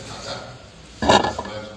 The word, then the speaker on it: Qatar: When you see a country, a small country like Qatar, that's the way to pronounce it, which has sand, dust, hardly any fresh water.